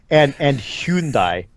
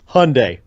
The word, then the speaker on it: Hyundai: But he's the one who got me saying Honda and Hyundai, because he had to keep saying stuff and saying that we said it wrong.